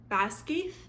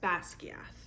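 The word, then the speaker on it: Basgiath: the p on the screen here I was pronouncing it Bas and there's actually a lot of Gaelic terms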